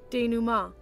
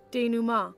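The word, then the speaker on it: dénouement: dment Dena no sorry it's freaking French it's the d new Ma I'm saying it wrong this whole time oh okay sure sure one more time for those in the back D Numa the D Numa all right I've have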